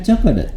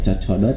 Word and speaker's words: Chocodot: teh meni cocodot nah biasa pronounciationnya bukan cocokot tapi cocodot cocodotnya sepertos eta nu